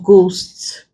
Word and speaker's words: ghost: Now, consonant sound H is not pronounced if it comes after R, G, or W sometimes. Mostly at the beginning of words, for example, rhyme. What we have here is root sound or ghost, white, ghetto, aghast, whistle, rhythm, rhino.